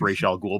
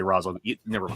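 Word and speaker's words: Ra's al Ghul: but who was r razal ghoul anyways he's pronounced racial ghoul but in the movie they say roswell yeah um i i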